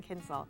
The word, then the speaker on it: Kienzle: My guest has been Karen Kienzle. Am I pronouncing it right? That's good And enough. They're good. How would you pronounce it, Rue? Karen Kienzle, the Americanized version.